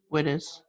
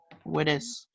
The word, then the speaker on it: Widdis: Widdis. Widdis? Widdis.